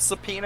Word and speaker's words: subpoena: yeah, only thing I really know about subpoena is I fucking hate the way it's spelled Correct.